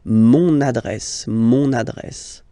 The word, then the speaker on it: mon adresse: Mon adresse, my address, mon adresse, okay, you can hear now this little link, so you've got to pronounce this N, mon adresse, okay.